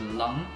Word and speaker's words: Lang: So Lang is pronounced as Lung in Chinese, Lang.